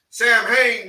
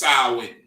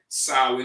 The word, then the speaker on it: Samhain: translate it sam here sam hayne means summers in right literally translates in sam haynes but it's pronounced samwin right sarwin because it's not english so you can't say sam hey it's sarwin right sarwin's day right go